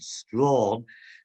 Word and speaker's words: Strachan: commander is a guy called sir richard strachan also perhaps pronounced richard strawn who this is a